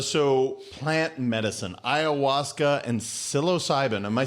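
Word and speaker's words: psilocybin: all right brother so plant medicine iasa and silos cybin am I saying that correctly you saying it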